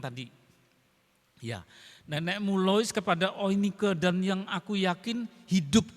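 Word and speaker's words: Eunike: Dari dalam nenekmu Lois, terus dan di dalam ibumu Oinike. EU itu kalau ejaan Jerman, EU dibaca OI ya, Oinike.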